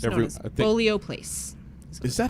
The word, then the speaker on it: Bolio: It's Every- known as I think- Bolio Place. Is that how you say it? Bolio.